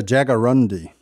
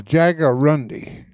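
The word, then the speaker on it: jaguarundi: and there's a bobcat siiz feline how you pronounce that Martin the Jagger rundi the Jager rundi the species is almost extinct in the United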